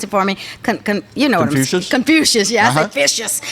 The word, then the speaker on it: Confucius: country to have these Confucius I'm mispronounced and pronounce it for me you know Confucius yeah suspicious it's a you not an eye